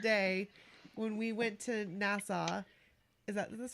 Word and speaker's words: Nassau: I think about you that day when we went to Nassau.